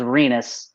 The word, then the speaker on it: Renus: after a couple drinks pronounced it as renus rhyming with a part of the male anatomy so so when i